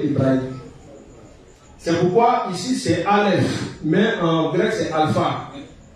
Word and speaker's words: Aleph: Le Aleph, lorsque ça se trouve dans une phrase, c'est muet.